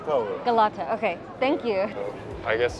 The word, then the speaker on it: Galata: Excuse me, how do you pronounce the name of this tower? Galata Tower. Galata, okay, thank you.